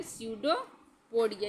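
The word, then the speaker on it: pseudopodia: सडोपोडिया बोलते हैं। क्या बोलते हैं? सडोपोडिया। यहां पी साइलेंट होता है।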